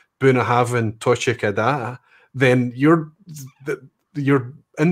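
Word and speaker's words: Bunnahabhain: uh anok or even the way i say buna haven't rather than bona having and you know they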